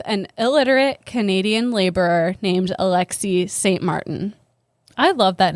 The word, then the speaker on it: Alexis: illiterate Canadian laborer named Alexis St. Martin. I love that name, Alexi. It is pretty. It's spelled like Alexis, but you don't say say it the Alexi. S. Yeah, it's a silent S.